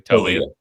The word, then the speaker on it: Taulia: And I do think, and this is not an insult to is it Taulia? Am I pronouncing that correctly? Talia.